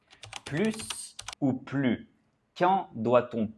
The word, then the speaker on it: plus: Exemple, il est plus grand que Jean. Grand est un adjectif qui commence par une consonne. Donc on ne prononce pas le S.